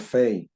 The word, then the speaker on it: פ: Kaf, we know, kaf and chaf, pays, pay and fay.